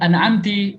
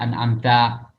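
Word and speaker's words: أنعمت: Atau membacanya dengan an'amti yang seharusnya an'amta.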